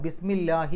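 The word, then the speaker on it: بِسْمِ اللهِ: അല്ലാഹുവിൻറെ നാമം അല്ലാഹുവിൻറെ പേര് പക്ഷേ ബി വന്നതുകൊണ്ട് ഇസ്മു എന്നുള്ളത് ബിസ്മി എന്നായി അപ്പൊ ബിസ്മി എന്നാകുമ്പോൾ ള എന്നുള്ള ഉച്ചാരണം പോയി ലാ എന്നാകും ബിസ്മില്ലാഹി എന്നായി അവിടെ ലാഹി അവസാനത്തിൽ കസർ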